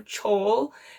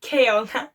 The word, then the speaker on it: Kale: guys this story but one of my friends that read this book called called them chole and I thought it was the funniest thing ever I'm like actually I'm not gonna say her name I'm like aw say friend friend it's literally kale and she literally laughed